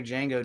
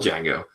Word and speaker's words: Django: he is it's still Django he's like sitting next to Jamie Jamie Foxx and he's like it's Django with addy and he's like I know the D is silent I know originally since